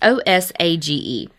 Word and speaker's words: Osage: It's Osage. Osage. Osage is what you've been saying. Because I think it rhymes with sausage.